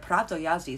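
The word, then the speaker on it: Prawo Jazdy: very beginning you know pronounced the w is a v yada yada was absolutely correct well is that egg on my face this is this story of prato yazi sounds a lot like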